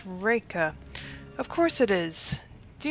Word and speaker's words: Reka: you have a name Reka Reika raika not quite during the pronunciation h i see yes raika of course it is